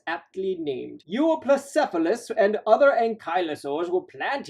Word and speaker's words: Euoplocephalus: And in case you're wondering, I did learn to pronounce this name. Euoplocephalus, otherwise known as well-armored head.